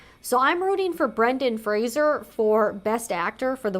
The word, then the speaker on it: Fraser: pronounce his last name Frasier he says it's like Fraser like Razer so I've seen a lot of people including a lot of like talk show hosts say Brendan Frazier but it's actually Brendan